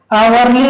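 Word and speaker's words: hourly: से देख रहे हैं जो एच का उच्चारण है वो ह क्या हो रहा है अ हो रहा है ठीक है तो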